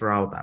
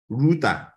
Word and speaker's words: router: used to calling this router but the guy calling him Ruta was also right because router is an American pronunciation Ruta is British pronunciation you can check and